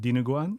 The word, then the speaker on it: dinuguan: I know like a little bit more, like Donde Goon. Oh. Yeah. Okay. And which is am I saying it right? It's. I think you're saying dinuguan. Yes, Dinuguan.